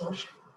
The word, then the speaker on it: Xochitl: It's XOCHITL, It's but it's pronounced Sochi.